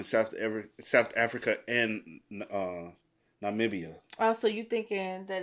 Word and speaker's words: Namibia: So, is it Namia? This is Zambia. So, Namibia. Not not media.